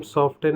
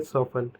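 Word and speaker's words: soften: इसी प्रकार लिखा हुआ है सॉफन, यानी कि इसको हम सॉफ्टेन ना पढ़कर इसको हम क्या पढ़ेंगे, सॉफन।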